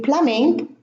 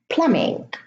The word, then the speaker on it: plumbing: In plumbing, the B is in the middle and it is preceded by an M. So in these words, the B is not pronounced.